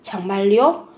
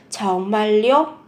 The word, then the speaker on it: 정말요: 정말요? Các bạn chú ý phát âm, biến âm. 정말요?